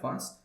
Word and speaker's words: Weisz: Obviously, you've got Keanu Reeves, Rachel Weisz, is that how you pronounce her name? Yeah. Weisz.